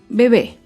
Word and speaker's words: bebé: Otro ejemplo es la palabra bebé. Bebé es una palabra aguda. Se acentúa en la última sílaba y lleva tilde porque termina en vocal.